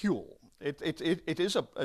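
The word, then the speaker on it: Whewell: advice was none other than this man William it's spelled way well but it's pronounced huel it it it is a an Old English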